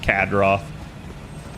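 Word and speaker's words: Cadroth: say your name uh it's just CAD Roth think of it like CAD okay get him that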